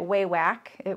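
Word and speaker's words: Wawak: And then the other thing I really like, and I got it at Waywack, which is like an online sewing supply place, and it's spelled W-A-W-A-K.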